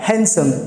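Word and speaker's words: handsome: So guys मैं आपको बता दूं, दरअसल इसमें भी डी साइलेंट है. तो अगली बार जब भी आप किसी पुरुष की तारीफ करें तो आप हैंडसम ना बोलकर हैंडसम बोले. क्या? हैंडसम.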